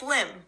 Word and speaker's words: limb: doesn't work you know we don't hear the be it just limb good what about the